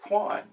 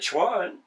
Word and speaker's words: quan: I say, well, we would pronounce it Quan. We would pronounce the Q. In English, how do you pronounce a word with Q in it? You don't pronounce it Ch. You don't pronounce it Chuan.